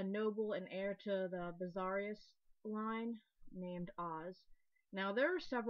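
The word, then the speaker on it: Vessalius: It's called Bizarius, but there's Vizarius as well, and Vizarius or something. There's several ways to pronounce this, but because I know it as Bizarius, I'm going to be saying Bizarius.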